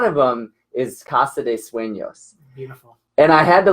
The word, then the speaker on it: Sueños: Is he's the owner of Conscious Leverage and Sueños LLC. Now, I know Sueños in Spanish, but spelled not the way it's spelled that we have it, but maybe it's spelled Suenos.